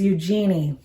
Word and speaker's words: Eugenie: Shark Lady, the true story of how do you pronounce her name? Her name is Eugenie.